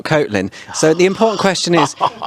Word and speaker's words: Kotlin: I thought it was Kotlin, not Kotlin.